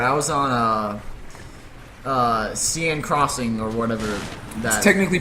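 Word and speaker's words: Seine Crossing: in the water i was on uh uh cn crossing or whatever that technically pronounced zen crossing zen crossing for uh in a rush level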